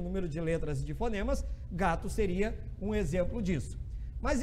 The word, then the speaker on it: gato: gato preto nada disso a gente fala gato né então tem o som do lá no final então percebo que a